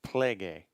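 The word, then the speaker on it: πληγή: So the wound here in Greek is plege. If we click on this, and we can actually see that this word plague kind of sounds like the word plague in English.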